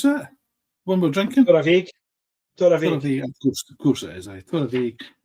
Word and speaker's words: Torabhaig: How do you pronounce that? One we're drinking? Torabhaig.